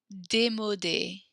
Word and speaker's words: démodé: Joli, élégant, génial, chouette, à la mode, moche, démodé. The little accents means we pronounce that E.